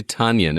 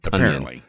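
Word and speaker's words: Tonyan: Even though we want to say Tunyon, it looks like Tunyon, but he does pronounce it Tunyon.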